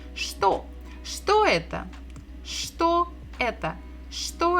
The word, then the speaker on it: что: It is ch, ch, ch. So ch, t, o, что, это, что, это.